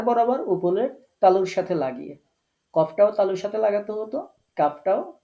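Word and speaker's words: ك: আর কাফটা হচ্ছে গোড়া থেকে একটু আগে বাড়িয়ে। তাহলে এই যে এই জায়গাটা আপনারা দেখতে পাচ্ছেন এখানে গোড়া ছিল। এই যে ছোট্ট পয়েন্টটা এখানে আমরা কফ উচ্চারণ করেছি। আর এখন সেখান থেকে একটু বাড়িয়ে এই জায়গাটা থেকে আমরা উচ্চারণ করছি কাফ।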